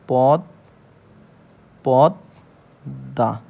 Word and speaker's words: পদ্মা: অর্থাৎ দীপ্ত উচ্চারণ হবে এই দ টা মোর সাথে যুক্ত অক্ষর অবস্থায় থাকার জন্য এই দ দুইবার উচ্চারণ হবে তার মানে এর বানান হবে হচ্ছে পদ পদ দা এবং দ টা হচ্ছে